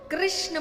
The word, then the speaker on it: कृष्ण: कृष्ण बोलने में जीभ घूमती है। बोलो। घूमी जिसकी नई घूमी गलत बोल रहा है। सही उच्चारण करेंगे तो घूमेगी तो भगवान का नाम रखा